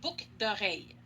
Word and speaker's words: boucles d'oreilles: Mais si je parle vite, je ne vais pas prononcer le L de boucle. Je vais dire des boucles d'oreilles.